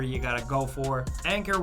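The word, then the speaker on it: Anker: got to go for anchor ones are pretty much the best bet yes that's actually how you pronounce that brand I only learned that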